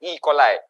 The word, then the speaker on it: E. coli: Tapi pronunciation dia English is coli, E. coli.